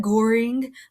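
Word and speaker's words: Göring: the right is Herman Goering which is how you say that Goering like boring only with the G that guy sucks we'll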